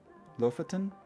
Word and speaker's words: Lofoten: Lofoten?